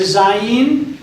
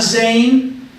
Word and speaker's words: Zayin: Zayin is in kind of two syllables, Za, and then Yin. It's not Zain, it's Za-Yin.